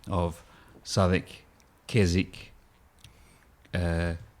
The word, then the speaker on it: Keswick: Australian pronunciation of savik Keswick uh Greenwich a couple of those towns where you've got the WIC and you don't pronounce the W no I I think